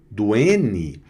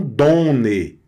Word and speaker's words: donne: Então com a repetição do N, você também não nazala anasala não anasala a pronúncia. Então fica done. Olha aí. Não donne, é don, que é o verbo dar.